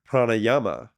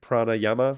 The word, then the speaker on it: pranayama: in my mind um the like the two vowels are long like PR Yama I don't think that's right so I'd actually have